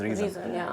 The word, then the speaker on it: Rheson: and Sonam but still we be calling the pronunciation is reason so if you can but it's still I